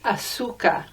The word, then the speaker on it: azúcar: In Spain, the letter Z is pronounced with a th. Now, I don't do that because I learned to hablar español in Peru, and there is no lisped Z in Peru. So it's azúcar for me, but azúcar for people